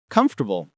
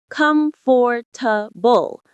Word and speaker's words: comfortable: Most learners say comfortable, but we say comfortable. Comfortable. That sounds weird. I know, but that's how native speakers say it. We drop that middle syllable.